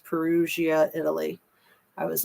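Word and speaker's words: Perugia: say the name you you don't pronounce the G it's a soft G like an S perusia Italy I was like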